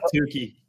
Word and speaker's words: toque: So you're getting shirt, hat, and a toque for those of you that are in Canada. Did I say it right? A toque? Yeah. A beanie? Yeah. You're converted. Yeah. Tukey.